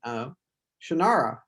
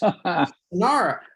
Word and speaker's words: Shannara: the TV show, and they were all saying Shannara, and I said that's wrong, and they said, well, who says? And I said, I say so. I wrote the books, Shannara.